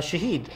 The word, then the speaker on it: Shaheed: hi uh Shahed um is that the correct pronunciation yes Shah awesome thank you and uh